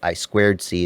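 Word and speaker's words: I²C: Sometimes you can, if you need an I2C output, I squared C is the right way to say it, I know.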